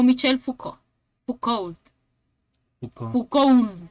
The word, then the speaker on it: Foucault: Foucault. Foucault. Foucault. No, no se pronuncia la otra letra, es Foucault.